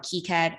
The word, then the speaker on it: KiCad: PCB design software called kaikat I know some people also call it keycad I'm used to calling it Kai cab so I'm going to stick with that pronunciation So today we're also